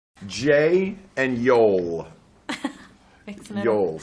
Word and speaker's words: Joel: Jay and Yoel. Yoel. Stop saying Joel. You're not allowed to say Joel. If you're going to say it like the Swedish, then you got to say Joel.